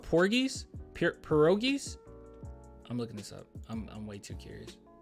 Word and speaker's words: pierogies: I'm doing low carb right now, but like as soon as I'm off, I'm getting on these pierogies. I don't want to be disrespectful. Hold on. How do we pronounce this?